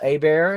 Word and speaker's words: Hebert: Kirsten's name there April a bear and it's spelled Hebert but if you uh